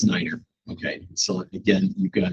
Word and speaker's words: nine: that so um so nine is Niner okay so again you